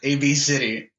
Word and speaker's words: Abcde: her and she's like, "No, it's pronounced A B C D." It's like A B City.